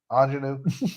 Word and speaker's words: Ingenue: You say it like the word. Ingenue by King Richard.